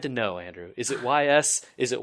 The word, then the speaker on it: Ys: Oh, is this the YS game? Yes. I think people just call it YS, don't they? No, it's pronounced Ys.